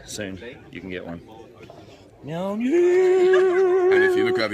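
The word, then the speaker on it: Mjölnir: And correct spelling is Mjolnir, pronounced Mjolnir. Mjolnir.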